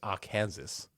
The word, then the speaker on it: Arkansas: or something yeah we've got Alabama Alaska Arizona AR Kansas did you say AR Kansas not Arkansas Aransas um Arkansas that's not here isn't it Aransas I don't think it's a state named AR Kansas each state in the United States is listed